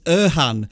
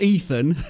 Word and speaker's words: Erhan: it was simply to say that it's Erhan, not Ethan.